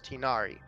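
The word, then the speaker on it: Tighnari: nickname for it I I heard how pymon pronounced it as tinari and it was pretty easy to roll off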